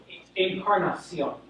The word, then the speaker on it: Encarnacion: It's Encarnacion. I know it's not on the So that would be incarnation.